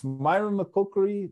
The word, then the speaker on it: myrmecochory: How do you say that with ants? Myrmecochory? Myrmecochory, yeah. Myrmecochory.